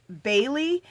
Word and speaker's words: Baly: Her name is Name Bailey. So she's spelling it Niamh, and then her last name is spelled Baly.